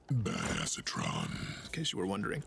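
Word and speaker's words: Badassatron: give it to myself or anything actually it's pronounced bad acetron in case you were wondering bad acetron you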